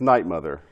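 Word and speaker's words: 'night, Mother: of this show right is it good night mother or nightmare it's night mother with it what possible with your poss red boots good night mother right and you know people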